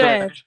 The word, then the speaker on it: sœur: Sister Sœur. is spelled sir.